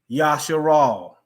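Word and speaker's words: ישראל: Yod Shin Resh Aleph Lamed. YSHRAL. Yasharal.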